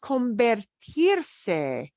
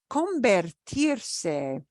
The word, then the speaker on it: convertirse: There's another area, and I couldn't quite pinpoint the exact area where he used it, but he also used convertirse. Convertirse, which sounds like convert.